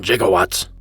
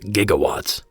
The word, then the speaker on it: gigawatts: Brown said it best there's 1.21 jigowatts and a bolt of lightning although since he pronounced gigawatts incorrectly I'm gonna double-check his